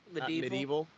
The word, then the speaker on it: medieval: Medieval. Medieval. I thought you were gonna say like Medea. That's where that's how you say it. It's like Medea.